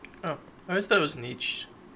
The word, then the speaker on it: Nietzsche: Nietzsche, again, please spare me before my ears start to bleed.